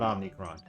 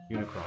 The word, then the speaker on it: Unicron: that but it works Unicron there you go not omnicron Unicron I thought it was